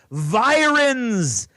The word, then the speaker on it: virens: in the Coast Guard virens as it rhymes with Sirens like the ones going